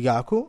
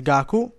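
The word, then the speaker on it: 学: questo è studio e si legge gaku oppure gak questo è Zu piccolo quando c'è un altro kanji dopo per suonare meglio va a raddoppiare la parola che c'è dopo quando suono meglio e ha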